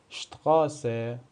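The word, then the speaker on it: Straße: مثل فوس مثل فوس به معنی پا یا شتقاس یا اشتقاق به معنی خیابان پس این حرف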